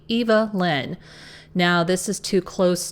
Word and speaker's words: Evelyn: Apparently, it's supposed to be Eva Lynn.